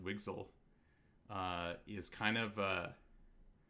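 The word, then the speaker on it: WGSL: language um wgl uh w g s l I think pronounced wigsal uh is kind of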